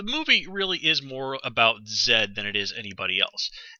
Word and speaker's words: Z: to say Zed uh I'm just going to call the character Zed since that's how he pronounces his name and it's just simpler